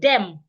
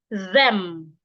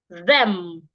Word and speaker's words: them: take some example now an aerian will pronounce this word like them like it's a d that is there no it's not a d it's th so you must put your tongue outside and say them them them not them when